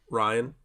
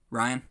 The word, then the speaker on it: Rian: Star Wars Episode 8, The Last Jedi, is the 2017 film directed by, how do you pronounce his name? Ryan or Rian? Ryan? Ryan? Yes. Well, he needs to spell it like Ryan.